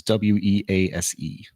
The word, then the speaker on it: Wease: Weiss is Wease.